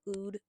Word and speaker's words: Ood: is called double O as in you know oud UD is spelled o o d so play on